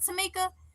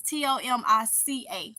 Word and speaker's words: Tomica: It's Tomica. So people be like Tamika or Tamika. I'm like, what? Tamika? They're like, oh no, we normally spell it or. I'm like, well, this is Tomica. Because they spell it with the K and it throw them off like, mm-mm.